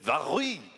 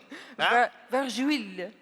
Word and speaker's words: Vargouille: I have no idea how to pronounce this. Vargouille? Vargouille. Vargouille.